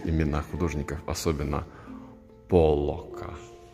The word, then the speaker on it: Поллок: Да, вот Татьяна, как наш сегодняшний эксперт по искусству, может более правильно произносить имена художников, особенно Поллока. Поллока, да. Когда дойдем до современного искусства, правильно говорить Поллок, а не Поллок.